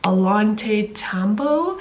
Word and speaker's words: Ollantaytambo: I'm actually in a city called, if I can pronounce it right, Ollantaytambo.